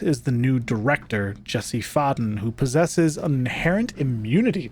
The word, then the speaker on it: Faden: So it's Faden. Jesse Faden.